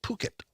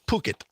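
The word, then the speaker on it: Phuket: up it turns out in Thailand pH is pronounced with p and and and the U is U it the city is called puket okay all right poit we can say that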